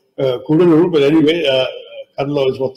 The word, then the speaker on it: Cuddalore: off the coast of Cuddalore. It's actually not pronounced Cuddalore anymore, thank God, Kudalur, but anyway, Cuddalore is